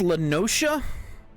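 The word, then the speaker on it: La Noscea: a hamlet Beyond South tide gate in Western lanosa half Stone was called It's pronounced lenosa I've been called it lenosa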